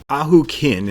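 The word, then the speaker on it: Ahau Kin: and start with him auk kin is how War gods pronounces his name so that's what I'm going with he might be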